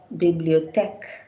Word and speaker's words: bibliothèque: And the same with another type of symbol towards slanting towards the left, you could see it's pronounced as a. Bibliothèque.